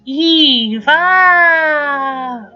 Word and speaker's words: EVE: of Wally's female companion which we all know Wally pronounces as Eva so that is a